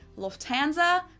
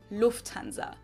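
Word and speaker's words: Lufthansa: flown with them before in English people usually say Lanza but in German we say Lanza so the emphasis on the first say versus Lanza well I feel like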